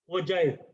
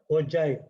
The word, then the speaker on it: ogive: It is called ogive, not G. G sound illa, J sound varum. It is called ogive. Ogive na anamada.